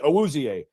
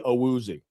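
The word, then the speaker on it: Awuzie: But see, everybody around here wanted to say Chidobi Auzier. No, he said in English it's Chidobi Aooi. Yeah. So if you're going to say my name in English, Chidobi Aooi.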